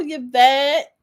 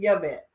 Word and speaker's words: Yvette: Is it Yvette or is it Yvette? Yvette? Me too. So let me give you an air high five because that's the real way to say it. We Well, pronounce the Y.